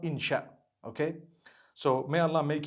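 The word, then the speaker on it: إن شاء الله: inchi means to create no one says inshi Allah they say insha Allah that's what it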